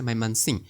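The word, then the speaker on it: Mymensingh: এবার রয়েছে মাইমান সিং। ইংলিশে মাইমান সিংহ হয় আর বা বাংলায় হচ্ছে ময়মনসিংহ। বাট এখানে সিংহটা উজ্জ থাকে অর্থাৎ হালকা করে উচ্চারণ করা হয়ে থাকে।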